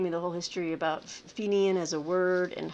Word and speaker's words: Fenian: an early collection of, now this is the correct pronunciation, this is an early collection of Fenian stories and poetry. I had said Fenian, of course I did, right? So, but Fenian, and Martine gave me the